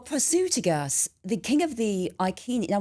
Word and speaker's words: Iceni: Well, Prasutagus, the king of the Iceni. Now, we think they might be called the Iceni, actually. It could be a hard C there. So right.